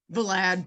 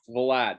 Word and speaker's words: Valade: Valade, but close enough. Valade, there you go.